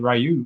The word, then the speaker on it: Ryu: You don't pronounce it Ryu, it's Ryu. Yeah. It's because of the U is become silent because of the Y.